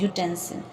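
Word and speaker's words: utensil: Same in यूटेंसिल, इसमें भी vowel से स्टार्ट है यू, बट प्रोनाउंस करते हुए कॉन्सोनेंट की साउंड आ रही है, य, यूटेंसिल, तो इसलिए हम यहाँ पर ए का यूज़ करेंगे।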